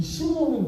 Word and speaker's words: 시몬: 예수님께서 시몬 베드로, 이 시몬이라고 이렇게 발음하는 것은 이건 헬라식 발음입니다. 헬라식 발음. 의미도 달라요. 헬라식으로서 시몬은 이 돌부스러기 이런 의미가 있는데 원래는 시므온, 야곱의 세 번째 아들. 시므온, 세 번째 아들. 레위가 세 번째 아들입니다. 이 시므온이 원래 히브리식 발음이지요.